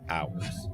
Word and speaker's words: ours: Ours. Yikes. Another word that makes it obvious how dumb English is. Well, that silent H will get you.